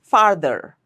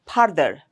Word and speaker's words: further: Not farther. Or further. Don't make it billeial. Don't put your lips together for the f sound. It's further. Viral, not viral.